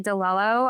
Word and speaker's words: Di Lello: Excited to be back here today with Ashley Dello. I think I pronounced your name right. Is that right? Yeah. Dello.